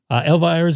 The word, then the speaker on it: Elvira's: Elvira's is good. It's pronounced Elvira.